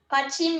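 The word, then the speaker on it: 받침: It's a consonant placed at the bottom and pronounced at the end in the Korean syllable block. It makes Korean writing system very unique. Pachim means support or prop because it supports other letters from below.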